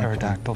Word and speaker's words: pterodactyl: These are all words that begin with P without pronouncing the P. They Pfennig. are words that begin with a silent P.